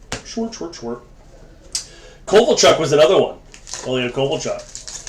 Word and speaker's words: Ilya Kovalchuk: Ilya Kovalchuk. His name is actually pronounced Ilya Kovalchuk, believe it or not. So we just adapted it into Kovalchuk here.